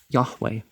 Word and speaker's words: Yahweh: of the temple of yahweh you know you don't pronounce the j as a j and you don't pronounce the v as a v he gave directions to